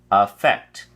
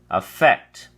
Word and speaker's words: affect: Affect has 2 syllables, and the emphasis is on the second syllable. So we say affect, affect.